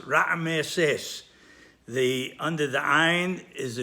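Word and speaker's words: רעמסס: And the pronunciation is Ra'meses. Under the Ayin, there's a Sheva. Under the Mem, there's another Sheva. The first Sheva is Sheva Nah, so it is silent. The second Sheva under the Mem is Sheva Nah, so it's heard and it's vocalized.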